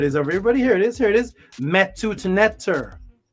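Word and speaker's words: Medu Neter: People say it like as if it's just a D. They say medunetter, like it's just a D sound. It's metut netter. It's a soft T, which is also a D, which T and D is the exact same.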